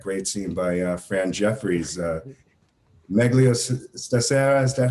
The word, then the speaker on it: Meglio Stasera: Meglio Stasera, is that how you pronounce it?